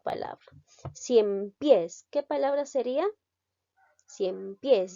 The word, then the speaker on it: ciempiés: ciempiés que palabra sería ciempiés lleva la mayor fuerza de voz en la sílaba pies por lo tanto